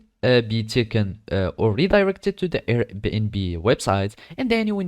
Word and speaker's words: Airbnb: after that you will logged in into the Airbnb platform you need to know that the Airbnb is pronounced as Airbnb and not something else like airbn or other things but Airbnb and basically it's so easy to use all